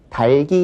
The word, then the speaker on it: 닭이: 이렇게 얘기를 할 때는 일반적으로 저기 닭이 있다. 이렇게 발음을 해요. 닭이 있다. 닭을 먹자. 뭐 이렇게 얘기를 하지만 리을 기억 기억 발음도 여기서 살려 줘야 되죠. 그러니까 저기 달기 있다.